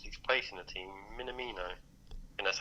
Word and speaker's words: Minamino: Minamino. I think that's how you pronounce it.